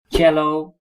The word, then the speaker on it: cello: Another type of string instrument is viool, that is violin, and cello, we use the Italian pronunciation for that, and contrabass.